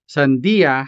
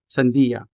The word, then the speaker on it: sandia: Sandia has 3 syllables. San, di, ya. Sandia. And so the last syllable here, ya, begins with the letter Y. Therefore, this letter is a consonant. Sandia.